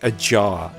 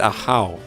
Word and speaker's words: Ahau: I can't help but say a jaw. Or a yaw. How is it Ahau? Anyway. I should just remember it's Ahau.